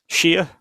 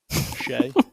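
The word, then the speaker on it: Shea: Shia. Shay, you bastard.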